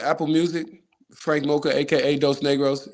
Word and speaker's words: Dos Negros: it's crazy because and there's nothing wrong with how you say it, but it's definitely pronounced Dos Negros.